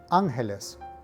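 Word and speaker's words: ángeles: pronunciation tips number one the word for angels is angeles now note that there's an accent over the first letter so the correct pronunciation here is angeles tip number two the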